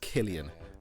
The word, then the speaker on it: Cillian: entire life it's pronounced Killian Murphy with a hard C like K you have to remember